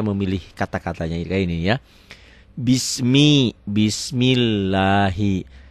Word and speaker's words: Bismillahi: kata-katanya ini ya Bismi Bismillahi Kenapa Bismillahi karena sebelum lafat Allah barisnya di bawah ini dibacanya tipis tarkik ya Bismillahi Arrahman ini